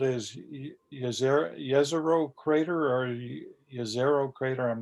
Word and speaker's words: Jezero: So what this is called is Jezero crater, or Jezero crater. I'm not sure how you pronounce it, but I know J is spelled pronounced as a Y because it comes from I think the Baltic states.